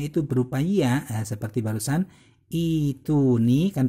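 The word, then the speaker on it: ائتوني: Terus kemudian kalau huruf matnya itu berupa ya, seperti barusan ituni, kan terbacanya kan ituni kan ya sukun ya.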